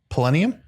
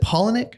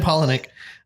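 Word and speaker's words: Palaniuk: Polaniak. Polonium? No, Polaniak. How do you say his last name? Polonic? Oh, is it Polaniak?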